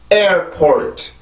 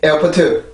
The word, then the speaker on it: airport: 절대 에어포트, 에어포트 이런 게 아닙니다. 한국어로 보면 에어포트, 에어포트 3절이지만 영어로 보면 2번이에요. 2번. 그리고 강세가 들어가 있기 때문에 강세를 정확히 지켜줘야 이 단어가 이제 그 정확하게 읽을 수 있는 방법이에요.